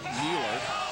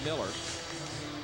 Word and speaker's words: Mueller: Yes, his name is spelled as though it be pronounced Mueller, but it is pronounced Miller.